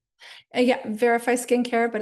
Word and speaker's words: Veriphy: Yeah, verify skincare, but it's spelled veri phy skincare.